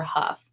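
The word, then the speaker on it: Hough: name, it's pronounced like H O U G H. And so, sometimes that can be ho, like the gh is silent.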